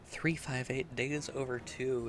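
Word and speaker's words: 358/2 Days: whatever on the DS 358 days over two is the proper way to say the title and I agree that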